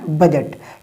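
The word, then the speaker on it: budget: देखो बजट क्या है बजट ये जी से पहले डी आ रहा है तो हम ने डी को नहीं पढ़ा हमने साइलेंट रखा हमने क्या कहा हमने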